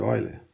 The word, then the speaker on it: Euler: ele que esse é assim chamado número de oiler escrever eu lembro o pessoal norment falar Ola que é um matemático alemão a pronúncia seria essa é um número tão